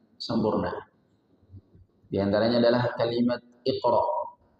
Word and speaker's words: Iqra: Di antaranya adalah kalimat Iqra. Iqra, qaf, adalah huruf qalqalah, sehingga ketika dibaca dipantulkan.